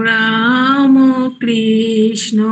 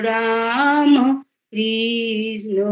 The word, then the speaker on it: রামকৃষ্ণ: শিব শিব মহাশিব শিব রাম কৃষ্ণ নাম। হ্যাঁ বুঝলাম। হ্যাঁ ওই যে রামকৃষ্ণ, আমরা সাধারণত কি বলি রামকৃষ্ণ, তাই তো বাংলায় বলছি, এখানে তোকে উচ্চারণটা একটু সংস্কৃত ঢং আনতে হচ্ছে। তুই তখন ওখানে একটু গলাটা খেলাবি।